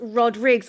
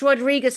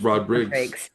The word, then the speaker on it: Rodrigues: It's Rodriguez." I'm like, "No, he told me it's Rodrigues." It's Rodrigues. Yeah, with the S, the Portuguese version.